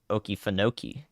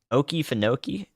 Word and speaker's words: Okefenokee: you have to put accent on the first and the fourth in order to achieve that yes this tornado warning